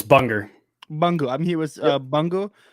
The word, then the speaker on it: Bunga: how do you say your name it's bunger bunga i'm here with uh bungal it's out on